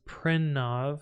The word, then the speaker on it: Pranav: You're not saying it correct in the actual Indian pronunciation, but that's how most of the American like Indians say it, as Pranav, because it's easier for others to pronounce that way.